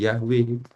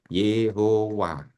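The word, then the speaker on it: Yahweh: Jadi Y Hwh konsonannya vokalnya A E. Nah, bacanya kok jadi Yahwe itu karena ya ketika teks Ibrani diterjemahkan ke dalam bahasa Yunani ada kata begini yahawya itu diterjemahkan menjadi yaih. Ae-nya diambil maka kemudian ya ee menjadi nama menjadi Yahwe.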